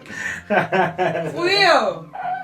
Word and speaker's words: Judío: Judío.